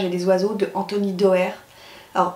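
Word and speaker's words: Doerr: des oiseaux de Anthony Dauer alors je crois que ça se prononce d'or donc comme je vous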